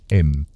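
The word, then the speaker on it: Eyam: Es verano de 1665 y nos encontramos ahora en Aam, un pequeño pueblo encaramado entre las pintorescas colinas de Darbisha, Inglaterra. Sí, a que se pronuncia como M, sin complicaciones.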